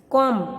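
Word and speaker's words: calm: Watch तो यहाँ पे टी। कॉम तो कॉम में एम नहीं बोलते, लैम्ब तो इसमें भी एम।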